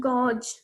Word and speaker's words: gauge: It's not gauge, it's gauge, pronounced as gauge.